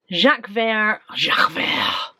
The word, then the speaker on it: Jacques Vert: Jacques Vert.